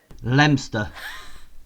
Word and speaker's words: Leominster: We're pretending the O doesn't exist. Leominster. Lemster.